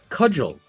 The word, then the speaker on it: cudgel: Okay, how would you say it? Cudgel. Cudgel? Yeah, that's what the word is.